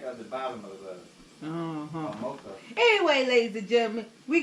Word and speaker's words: ATMOKO: ATMOKO. ATMOKO. They don't say no ATMOKO on here. Yeah, you gotta look at the back of the bottom of the ATMOKO.